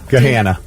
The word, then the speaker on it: Gahanna: Gahanna. That's one that actually sounds like it looks.